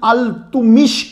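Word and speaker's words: Iltutmish: और यह सुल्तान शमसुद्दीन अल-तुमिश के गुलाम थे। यह प्रोनाउंसिएशन अल-तुमिश है।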